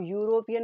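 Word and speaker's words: European: अब यूरोपियन में देखो यू आ रहा है, पर यू कौन सा वाला आ रहा है, वाई वाई साउंड का जो यू है वो आ रहा है, ना कि सिर्फ यू वाला यू आ रहा है।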